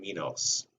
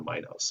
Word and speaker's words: Minos: about that last time, King Minos, or Minos, however you want to pronounce it. You can pronounce it both ways.